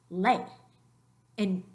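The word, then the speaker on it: leí: And we know it's not le, it's lei. And how can that be two different syllables is because the I, which is a weak vowel, it has an accent mark, so it gathers its own strength enough to start its own syllable.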